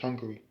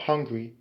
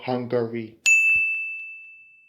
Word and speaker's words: Hungary: And speaking of pronunciation, be sure to not make the mistake of thinking it's Hungary. It's not hungry, as in I'm hungry for a piece of cake, or I'm hungry for